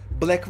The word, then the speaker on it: 6LACK: o da şeyden alınmaya Black var ya Six l şeklinde yazan 6lack şekli yazma oblake diye okunuyor Bu da onun alacaksın